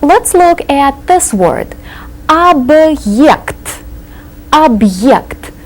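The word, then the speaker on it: объект: this word AB object see the hard sign right in the middle so we have to pronounce this as if it were two separate words AB AB the hard sign is a word divider object an object any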